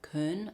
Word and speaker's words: Köln: Australia, but I think they it's spelled and pronounced differently. It's Karn. I probably can't quite get the accent right. Karn K O with an omlot ln.